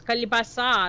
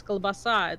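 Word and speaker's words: колбаса: And he was trying to say the word for salami was kalibasa, and I'm like, no, it's kalbasa.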